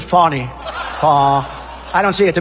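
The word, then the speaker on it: Fani: thing is so corrupt Fanny is just the beginning it's not really excuse me I'd like to apologize to Fanny it's f a n i she pronounces it Fon I don't see it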